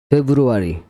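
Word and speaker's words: February: সাইলে লেটারের 10 টি word এবং বাংলা মানে ফেব্রুয়ারি মানে ফেব্রুয়ারি মানে একটা মাস ফেব্রুয়ারি তারপর কর্নেল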